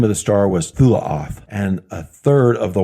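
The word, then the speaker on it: תולעת: It says Tolaat, more correctly pronounced as Thulaoth. The name of the star was Thulaoth, and a third of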